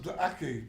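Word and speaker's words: Gla'aki: ether told you that it should be pronounced Glaki, did it not?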